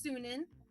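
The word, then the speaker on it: Sunin: you'll have a raven his name is pronounced soon in and you can use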